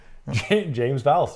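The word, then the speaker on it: James Vowles: James Vals.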